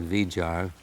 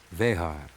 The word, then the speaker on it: Vejar: I know they call it Vijar, but he's a Chilean, and I've got to go to the Spanish pronunciation, being a purist. Vejar. Chico Vejar.